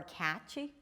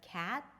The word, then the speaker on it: cat: And then you may hear badgy instead of bad, or catchy instead of cat. And again, then it becomes a word with 2 syllables, which would be very confusing.